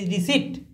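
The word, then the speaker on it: receipt: मैं बताऊंगा पी इस इन वर्ड्स में पी लेटर साइलेंट है चलिए स्टार्ट कीजिए स्पेलिंग के साथ री आर ई सी ई आई पी टी हां री री रिकाइट्स समझ ग ना सी रिसीप्ट रिसीप्ट रिसीप्ट लोग इस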